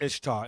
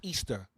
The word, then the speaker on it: Ishtar: Now the word Ishtar is not pronounced Ishtar, it's pronounced Easter.